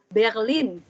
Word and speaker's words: Berlin: Ada Berlin. R-nya Jerman tuh ya. Berlin. Ya, Berlin. Kemudian ada cafe.